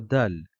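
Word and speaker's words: د: lettre qui suit est la lettre dal qui correspond à un D en français tout simplement on la prononcera da da la lettre zal va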